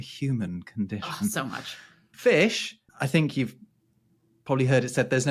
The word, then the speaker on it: fisc: In Old English, it was fis or fish, although that's spelled F-I-S-C.